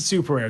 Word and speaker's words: SupeRare: Okay, so we pronounce it SupeRare, just to clear that to everybody. I do love that people argue. So people like SupeRare or like SupeRare.